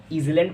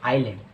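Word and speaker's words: island: अगला जो वर्ड है, कई बच्चे इसको ईज़लैंड पढ़ते हैं और कई बच्चे इसको आइसलैंड पढ़ते हैं, लेकिन इसकी राइट प्रोनाउंसिएशन होती है आइलैंड, जिसका अर्थ होता है द्वीप।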